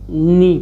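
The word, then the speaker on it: know: जैसे देखिए इसको अगर पढ़ना होता तो हम लोग क्या पढ़ते, अगर को नी पढ़ते, क्या पढ़ते, इसको कनी पढ़ते।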